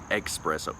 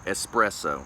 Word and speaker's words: espresso: a note similar to drinking express expresso espresso excuse my pronunciation there or lack thereof oh god super freaking